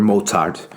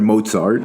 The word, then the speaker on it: Mozart: it surpass Bach or Mozart? Mozart, man, that was such a bad pronunciation. Sorry, Mozart. Let me just say it that way. That was such a bad mix of accents.